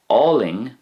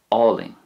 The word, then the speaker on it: álainn: In a similar way, Ling is pronounced more or less the same in Munster and Connacht. Ling.